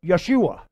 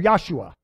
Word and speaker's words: Yeshua: what did she say did she say Jesus no she said we would say Joshua but that's not the way she said Yeshua or yosua because Jesus's name is